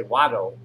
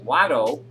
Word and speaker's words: Wado: Now I know to, and now I'll say Wado. Because Wado is how you say thank you in Cherokee.